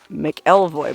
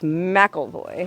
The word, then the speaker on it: McElvoy: of Mikel mcelhoy Canyon keep wanting to pronounce it McElroy but it's mackleboy oh look over here